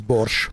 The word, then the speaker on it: borscht: is Bush Oh but finally somebody who pronounces borscht the way way I mean there's no T I mean it's really hard to explain to people but yeah Russians never see borscht it cuz it's borscht it's just borscht behind